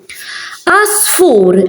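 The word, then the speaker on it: għasfur: Asfur, as you can see, these, I'm not pronouncing the ein. It's silent. You start from there. Asfur.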